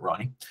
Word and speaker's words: R9Y: Get on ronnie.dev, that's a nominarium for reliability, R9Y, but pronounce it Ronnie.